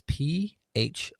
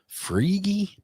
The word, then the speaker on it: Phryge: Phryge, PHRY. They went with a Y for an E sound.